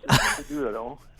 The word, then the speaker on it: Peduto: Yes, I got the guy who terrorizes Amanda in this film, Peduto. Did I get that right? Did I get that right this time? Well, it's close. Peduto.